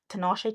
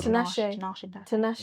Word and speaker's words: Tinashe: Like I've got like a I've got like a Tinashe Tinashe. How do you Which say one? Tinashe.